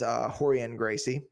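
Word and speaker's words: Rorion Gracie: Yeah, and they all have names that start with R, which is pronounced like an H in Portuguese. Yep. So this is Horian Gracie.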